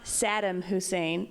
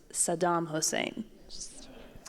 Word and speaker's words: Saddam Hussein: So I would just My mom, and it's not Saddam Hussein, it's Saddam Hussein.